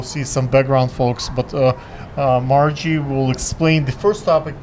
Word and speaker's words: Margie: Ladies and gentlemen, finally I got the chance to speak to Maggie. So, Margie. Margie, like, let me pronounce it correctly, Margie, and we are here in the part of the Williamsburg, right?